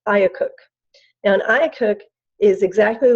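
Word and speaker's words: IACUC: it's I a see you see which we pronounce ayah cook now nya cook is exactly like an institutional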